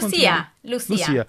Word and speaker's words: Lucia: Oh, actually, to say Lucia or Lucia, because I have that's Lucia. You said it right.